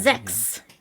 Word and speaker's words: sechs: Yeah, Sechs. Absolutely. Including including the unvoiced S.